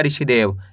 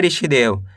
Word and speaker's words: ऋषिदेव: ऋष में छोटी इ की मात्रा शी दे व तो मिलके बन जाएगा ऋषिदेव। कैसे पढ़ेंगे? ऋषिदेव।